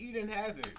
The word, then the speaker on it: Hazard: However, for the remainder of say it right, it's Eden Hazard.